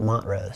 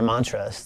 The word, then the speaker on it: Montrose: little town called Montrose the locals would call it Montrose so that's how you yes how you can tell the difference to tourists or mantras that locals say Montrose that's the the big